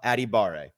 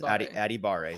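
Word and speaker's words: Adebawore: Adebawari. I'm going to get out the actual pronunciation guide. Is it Adebawari? I believe so. I can tell you for sure it is Aditamiwa Adibare. Yes, Adibare.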